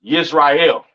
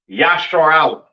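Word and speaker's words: ישראל: know what I'm saying and Israel is not pronounced yashar is not pronounced Israel in the Hebrew that is not how you pronounce Israel Israel is pronounced yah Allah all right yashar Allah all right meaning Prince of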